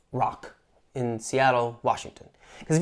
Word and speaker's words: ROQ: the soon to open gym ROQ, or I guess it's pronounced Rock, in Seattle, Washington.